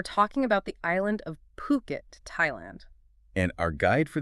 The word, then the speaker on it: Phuket: We're talking about the island of Puket, Thailand. And our guide for this deep dive is a fascinating single source. An article called Hidden Gems Exploring Fuket. That's Puket.